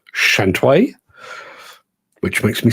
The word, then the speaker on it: Shantui: For years, I was saying Shantui. Apparently, it's pronounced Shantway, which makes me sound very camp.